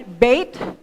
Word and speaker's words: beth: Sa iba po ang ang pronunciation niya is bait. Spell b e I t. Sa iba ay b e t. Pero sa alf beth it is b e t h.